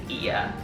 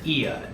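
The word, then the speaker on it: Oia: There was a boat tour company called Sunset Ia. Ia is spelled O-I-A.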